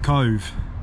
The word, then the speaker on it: Cobh: where we are going Cove Cove as I said unless somebody had told me I would not have pronounced it that way but anyway let's go